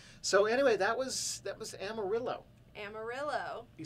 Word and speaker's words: Amarillo: get to explore Amarillo either, so there might have been other stuff to do that we just didn't.